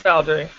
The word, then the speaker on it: Valdary: Did I pronounce it correct, Chloe? Oh, it's Valdary.